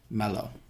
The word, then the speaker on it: Merlot: we have is Marlo so this is a pronunciation of this is mellow it's not Marlow actually sorry it's mellow right so it's not